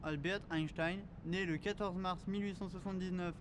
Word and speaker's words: Albert Einstein: Albert Einstein, prononcé en allemand Albert Einstein, né le 14 mars